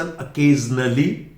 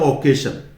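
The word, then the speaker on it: occasion: कुछ लोग इसको बोलते हैं ओकेशन, नॉट ओकेशन, नॉट ओकेजन, अकेजन, अकेजन, अकेजन, जन जन, और वो भी अके नॉट ओके, ए अके जन जन, अकेजन।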